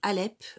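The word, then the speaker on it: Aleph: vous l'avez là donc là c'est Alep le h muet et là baisse alors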